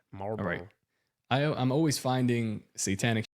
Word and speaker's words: Marlboro: Like mar like the cigarettes. Marlboro. Marbor. You say the L. The L is silent. Marbor.